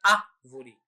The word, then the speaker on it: árvore: palavra da palavra árvore a palavra árvore contém a sílaba forte no início da palavra a primeira sílaba é a sílaba forte né que é árvore né E esses posicionamentos